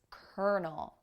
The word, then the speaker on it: colonel: working with the military so it's not colonel it's kernel colonel you might be tempted